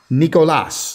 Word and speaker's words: Nicolas: name is nicholas nicolas that's it and that's how it's because it's spelt the spanish way n-i-c-o-l-a-s because here they put a h in it i in think accents it sounds different that's right it sounds a bit different doesn't it yeah and everything mostly